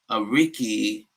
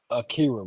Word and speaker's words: Akira: He said, "What are your thoughts on the death of Ariki Toriyama?" Akira, bro. Bro, I'm telling you on my screen, I'm seeing shit about Ariki. It's Akira. It's Japanese.